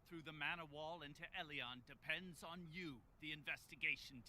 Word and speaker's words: Elyon: remember the path through the mana wall into eleon depends on you the investigation team yeah and it's actually pronounced el elyon elian like el eon not eleon not alien eleon we're finally off to the mana wall